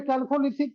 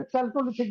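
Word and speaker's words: Chalcolithic: तो जैसे कि शुरू में कैल्कोलिथिक को हम बहुत दिन तक चैल्कोलिथिक बोलते रहे थे।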